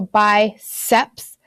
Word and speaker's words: biceps: them up just remember the C and biceps is a soft C so by SEPs binocular bi-lingual and then